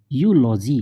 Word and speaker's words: eulogy: फिर जैसे कि EULOGY, यूलॉजी, तो यहाँ पर EU क्या बन गया, यू से प्रोनाउंस करेंगे।